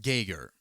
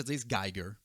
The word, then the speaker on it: Geiger: Google alors ça va être gayer mais ça se peut que des fois je disegger mais ça s'écrit Giger donc après avoir fait